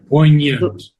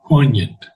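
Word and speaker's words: poignant: Poant. No, no G. Do not pronounce the G. Poant.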